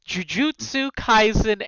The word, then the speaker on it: Jujutsu Kaisen: And Shal is answering questions on, and you'll have to correct me on the pronunciation because he picked what he wanted, Jujutsu Kaisen anime.